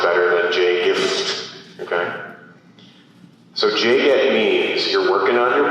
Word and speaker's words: JGET: J-G-E-T. Okay? In my classes with my students, I pronounce that JGET.